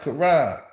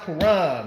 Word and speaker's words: Quran: k it says a cute no it's it's pronounced Kuran you know that's the book of Islam it's Quan it said curan see q q that's a q say curan no no man it's it's pronounced Quran man it's Islamic see I'm speaking AR it's